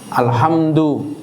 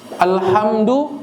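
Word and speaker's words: الحمد: Alhamdu dibacanya alhamdu harusnya pakai ha tipis, dia pakai ha tebal.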